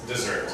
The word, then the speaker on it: dessert: Des desert dessert so here the emphasis the emphasis is on the second syllable here emphasis is on